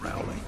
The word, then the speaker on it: Rowley: It's pronounced Rowley.